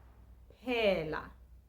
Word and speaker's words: phela: This word is phela. Phela, which means to finish. E is pronounced A, and the letter A again is pronounced A.